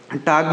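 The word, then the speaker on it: talked: जाएगा टक्ड इसको पढ़ेंगे टक्ड यहां पर एल साइलेंट है यहां पर क्या है एल साइलेंट है एल को नहीं पढ़ेंगे तो इसको पढ़ेंगे टग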